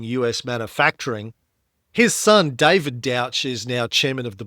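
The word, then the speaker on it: Dauch: Uh so the founding of this company AAM born in 1994 when Richard Dick Douch D A U C H pronounced Douch rhymes with ouch led investors to buy GM's final drive and forge unit and then they later IPOed in 1999.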